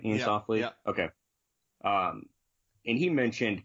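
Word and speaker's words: Iain Softley: Ian Softly.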